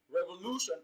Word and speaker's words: revolution: of the word so option d revolution has a different stress pattern it is placed on its third syllable while other options are stressed on their second syllables respectively so revolution has